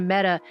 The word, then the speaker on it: Meta: media, #facebookdead, because apparently the word meta is pronounced like the feminine form of the Hebrew word for dead, and so that was going around the media as well.